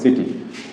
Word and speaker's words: city: এই যে সিটি শব্দ, এখানে সি এর পরে কি আছে? এখানে সি এর পরে আই আছে, তাহলে এই যে সি এর উচ্চারণ এখানে কি ক না হয়ে হলো কি স, সিটি স। এখানে এই আই আছে, এখানে আই থাকার কারণে এটা উচ্চারণ হলো কি সিটি।